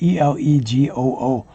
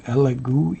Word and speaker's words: Elegoo: I'm not sure how to pronounce it. E-L-E-G-O-O.